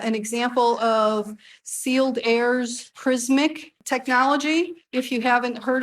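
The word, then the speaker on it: Prismiq: example of sealed airs prismic technology if you haven't heard of that and it's spelled p-r-i-s-m-i-q so it's spelled a little bit different prismic is how it's still pronounced I believe though and it's a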